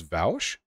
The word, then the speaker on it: Vaush: your Wikipedia is amazing isn't vosh pronounced as vouch the Wikipedia article claims that vosh is pronounced like vosh this is incorrect because vosh is pronounced as vouch by the majority of people including Ian proof Bosch pronounced his name like vosh most of the time I can't recall a time he said vouch when it's not implied he's joking counterproof